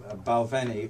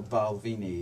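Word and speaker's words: Balvenie: who drink there two there's two well there's baleni or balvini is they there you can pronounce it either way okay we'll talk about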